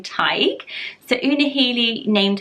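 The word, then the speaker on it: Tadhg: Scrabble this one but it's pronounced basically like Tiger without the ER so Tyco let me know if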